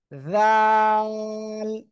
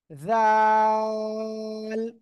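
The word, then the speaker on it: ذال: থেকে উচ্চারণ হয় জানেন জিহ্বার আগা আমি যা বলতেছি সেটা করেন জিহ্বার আগা সামনের উপরের দুই দাঁতের আগা লাগান লাগে উচ্চারণ করতে হবে জাল জাল তিন আলিফ টান হবে কয় আলিফ তিন আলিফ জাল সবাই একসাথে জোরে জোরে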